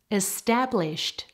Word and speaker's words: established: Established. Make sure you're getting a t sound on the end there of established.